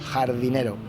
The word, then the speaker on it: jardinero: Jardinero.